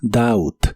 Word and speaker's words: doubt: El verbo dudar en el presente de inglés es doubt. La o se pronuncia como una a normal y la b no se pronuncia.